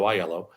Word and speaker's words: Aiello: when someone says hello my name is iello thank you for pronouncing it correctly by the way Rebecca and